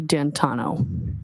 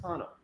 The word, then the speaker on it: D'Antuono: And when you went outside, you learned that he had come and his friend, is it Ricky D'Antuono? How do you pronounce the name? It's Ricky D'Antano. D'Antano. Ryan had come in Ricky D'Antano's gray Ford F-150 truck, correct?